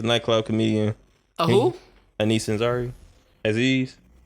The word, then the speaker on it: Aziz: You said it right after the end when you said Aziz. Aziz.